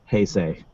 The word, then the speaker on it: Heisei: I said, please say this word, and it is Heisei. That's how I've been pronouncing it my whole life, so kudos to me for knowing what the extra was.